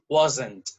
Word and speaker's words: wasn't: wasn't weren't practice that just notice that this wasn't has two syllables and weren't has one syllable okay weren't weren't nowhere and it's burned and this is wasn't wasn't so that is